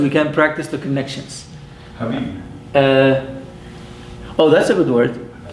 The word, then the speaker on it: Habib: Consonant plus short vowel ha. Ba plus a long vowel B. Habib. 2 syllables. Habib.